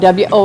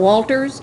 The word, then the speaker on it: Wolbers: Wolbers, and that's spelled W-O-L-B-E-R-S. I've never heard that last name before, so it's not Walters, it's just Wolbers.